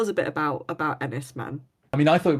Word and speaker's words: Enys Men: horror so tell us a bit about about enisman I mean I thought it was also called Enis men I mean actually I found out since that it's pronounced um Anis M which is means Stone Island which um is